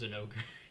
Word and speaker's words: Zinogre: And another thing I like about Zinogre already is that in a few of my videos, I've pointed out there's a lot of ways to say a monster's name.